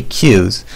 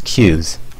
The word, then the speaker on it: queues: an advanced subject specifically cu's or some people call them qu I won't complain if you do it's kind of a weird word but the proper pronunciation is Q's so what is a